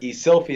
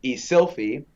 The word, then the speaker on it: Eszylfie: nightmare right so um so e-sylphy is the name now believe it or not i was a shy kid so when people would mispronounce my name as a child i'd say yeah close enough so e silfi became and then the e just dropped off so everybody call me right so growing up